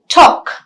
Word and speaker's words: talk: because there are exceptions when you have a word like calf the la is silent tlk talk w-a-l-k walk but you have words